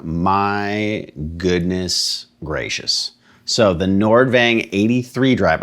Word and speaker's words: Nordvang: goodness gracious so the nordvang 83 drive i think it's pronounced nordving looks like nordvang and if i'm butchering